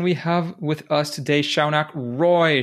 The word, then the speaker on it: Shaunak: game podcast and we have with us today Shaak Roy Shaak did I get your name right and are